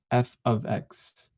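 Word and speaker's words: f(x): this F parentheses x a lot and we pronounce it as F ofx uh so Y is f ofx which means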